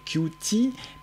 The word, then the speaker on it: Qt: Souvent on dit Qt, en anglais Qt, mais la prononciation officielle est Qt. Entendez, mignon, malin.